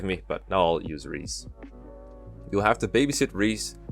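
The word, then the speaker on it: Rhys: too bad good Reese I've been told you pronounce it as Reese I know it's at risk during the let's play with mags I'm just so used to saying wrists because of the shadow dragon dude so you ought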